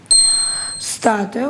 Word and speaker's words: статуя: Статуя, ударение на «а».